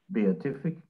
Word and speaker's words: beatific: word uh beautiful am i saying it right beatific yes and uh i was happy to to